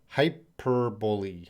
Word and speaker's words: hyperbole: Berbick Piper I burp hyperbole hyperbole that's how I say it hyperbole hyperbole I don't